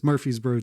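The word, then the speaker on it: Murfreesboro: It for the listeners, it is spelled super weird, but it's Murphy'sboro, Tennessee.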